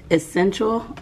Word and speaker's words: Essentia: H2O other than kava essential is it essential or essential because the other day you told me I said it wrong Essentia um this is